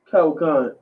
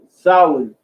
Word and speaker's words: Samhain: You can pull up the history of Samhain and see how Halloween started, how it progressed, the people who influenced it.